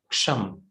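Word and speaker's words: क्षं: So as you can see, Sham, it has a K, is a very soft or a very partial, you can say, presence of K. So we call it as Ksham. Okay, half K, however you feel comfortable to pronounce.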